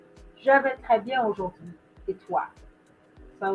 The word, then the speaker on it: aujourd'hui: Aujourd'hui, right? Aujourd'hui. So you're breaking it down into three syllables here.